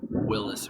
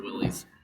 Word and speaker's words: Willys: Uh, I had a Jeep, Willis or Willies, however you want to pronounce it.